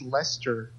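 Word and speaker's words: Leicester: to 6 p.m what I think in England they they pronounce this Lester it's weird I know but write it Lister but I think they pronounce it as Lester oh okay so um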